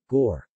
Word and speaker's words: gor: As in God, though more rounded. Gore.